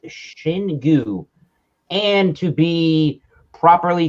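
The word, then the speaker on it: Xingu: of brazil it's uh their website says that this is pronounced shin gu and to be properly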